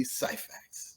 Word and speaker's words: Syphax: Tracey and Cheri Syphax.